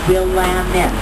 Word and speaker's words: Willamette: We've merged our old buildings from the 1890s, early 1900s with our brand new skyscrapers and new modern Willamette. It rhymes with Slamming.